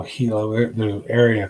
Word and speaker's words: Gila: a Gila trout and people look at that and say Gila trout but if I'm not mistaken the G is actually pronounced as an H so Hilo a new area called